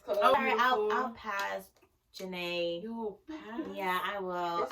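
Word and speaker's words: Jhené: pronounce her name. It's Janae.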